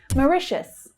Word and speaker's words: Mauritius: Mauritius, Mauritius. So the first syllable is unstressed. You can see that it reduces to the schwa.